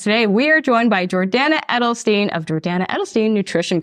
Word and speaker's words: Jordana: it's a good name Jordana rhymes with banana that's like an easy